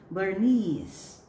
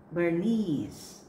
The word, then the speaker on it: Bernice: And the last word in the second column is Bernice. Bernice.